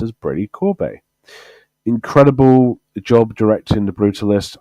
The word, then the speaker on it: Brady Corbet: But I'm going to go with Brady Corbett. Brady Corbet. That's how it's pronounced, apparently. I thought it was Corbett, but apparently it's pronounced as Brady Corbet.